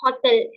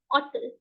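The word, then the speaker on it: hôtel: So I don't say hotel as I say in English language. I say it hotel. I eliminate the H sound.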